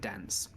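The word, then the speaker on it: Danze: label this place as Fort Dance, spelled with a Z, not an E, well, not S. So Fort D-A-N-Z-E, Fort Dance, is what this place seems to be called.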